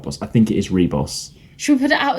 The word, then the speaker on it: Ribos: where I've sort of always pronounced it differently so I might say it wrong great and cause controversy but I think it's called the reboss operation what do other people say it is ribos oh no actually I